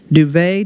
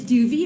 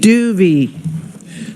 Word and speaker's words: Duvet: Joan Duvet. Did I pronounce that correctly? I did it, did I? It's okay. Is it a long E? It's Duvy. It rhymes with groovy. Duvy.